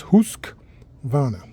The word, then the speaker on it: Husqvarna: It's actually so it's not that there's no there's no husk uh it's just husk vana. So uh just like it's just like it looks actually if you look at the word h u husk and then w a r n a husk.